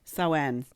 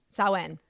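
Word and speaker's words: Samhain: Sen. Sen. Sen, which is spelled Sam Hayne.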